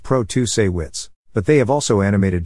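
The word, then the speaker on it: Protasiewicz: dollars behind judge protesty Wicks pronounced Pro to say wits but they have also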